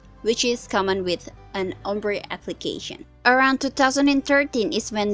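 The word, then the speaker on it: ombré: Ombre techniques have been developed for a very long time. France is when the word ombre, pronounced ombre, comes from.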